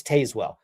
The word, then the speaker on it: Tazewell: I know that's a crazy idea, but if your city's pronounced spelled T A Z E W E L, it's Tazewell. No, I digress.